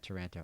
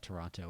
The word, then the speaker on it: Taranto: Is it Taranto? Toronto? Yeah, Taranto. I would probably pronounce that Toronto when I saw it because I'm from America because I have an American accent.